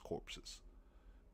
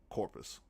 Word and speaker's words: corpus: And I don't understand why this administration would say something about doing away with habius corpses. Corpus I keep pronouncing that wrong. Corpus habius corpus.